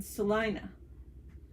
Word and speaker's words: Selena: So, one, the pronunciation I'm saying Selena, or two is the pronunciation Selina. No, it's Selena.